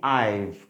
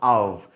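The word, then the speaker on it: I've: ওকে, এটা দেখুন এই যে মেনশন করেছি, বাংলাতে লিখে দিয়েছে, উচ্চারণটা আইভ, নট আভ।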